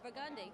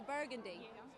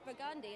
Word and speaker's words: Burgundy: that's what it is it's burgundi even some people say burgundy but it's burgundi it's just the French